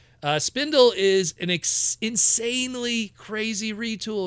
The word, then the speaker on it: Spindle: a female recruit of Spindle, or Spindel, however you'll want to pronounce it. I think Spindle is probably the correct way to say it. Spindle is an insanely crazy retool of Paleotrex.